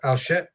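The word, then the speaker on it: Archet: We have Alshet, which is, I know I'm not pronouncing it right. I know English speakers have a different way of pronouncing it. Thank you, Matt. Yep. It's just, I pronounce it because I'm French, so I go with the French. Yeah. That's fine. I believe I looked it up actually, and I think the CH sound is supposed to be like the CH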